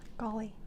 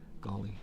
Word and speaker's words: Gawley: Gawley. Gawley.